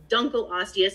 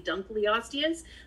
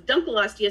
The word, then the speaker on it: Dunkleosteus: who told me it's dunkleosteus a lot of people say dunkleosteus he's like no it's dunkleosteus because it was named after mr dunkle yeah makes sense that